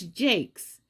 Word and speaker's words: jakes: here's our first word from the bard it's jake's it's spelled j-a-k-e-s it's a noun and it's singular